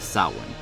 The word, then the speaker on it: Samhain: but keep in mind this is a gaelic word by origins so it uses a gaelic pronunciation during the festival of saowin the priests would start